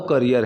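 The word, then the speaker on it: career: अब इसकी जो प्रोनाउंसिएशन है ना वो करियर है, मैंने बहुत से लोगों को कैरियर बोलते हुए सुना है, कैरियर बिल्कुल गलत प्रोनाउंसिएशन है, the right pronunciation is करियर।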